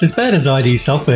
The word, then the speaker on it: id Software: It's as bad as ID software. Remember how people used to say id software, which I think is how they want you to pronounce it.